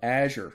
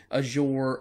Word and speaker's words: Azure: Microsoft's cloud service that does this, their IaaS service, is called Azure. Now, let me just kind of clarify. You may pronounce that name, that word, a little different than I do, Azure or Azure or Azure.